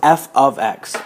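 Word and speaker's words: f(x): phrase f parentheses x that's pronounced f of x or it's pronounced function of x and in other words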